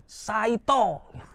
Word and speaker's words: Saito: Sait saito mereknya Saito. K nek cara jawone Saito. Ini bacanya ini saito gitu kayak gini.